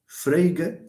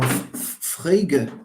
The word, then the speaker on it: Frege: But these models were subsumed in one theory by the famous Frege, okay, or Frege, that's the German pronunciation of it.